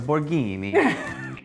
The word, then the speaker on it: Borghini: is borghini really but you have to say it like this a borghini I'm of